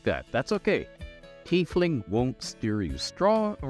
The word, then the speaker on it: Tiefling: in a busy street or in a bizarre teethley that's how it's normally pronounced now some Regional accents of the rooms